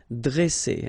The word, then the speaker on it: dresser: Okay, same thing here. Vowel, vowel, double S, so you pronounce it really strong like S, okay? Dresser. And then when you get a double consonant after a, you open the sound of the so it will be like e, dresser.